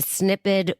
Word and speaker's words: Snipd: You can join the waitlist on the Snippet website, and that, by the way, is spelled SNIPD.